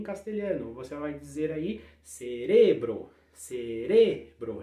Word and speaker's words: cerebro: você vai dizer aí cerebro ser Essa é a segunda em espanhol em português né para falar para o cérebro limpar ao cerebro segunda aí segunda sílaba pronunciar forte próxima alergia como é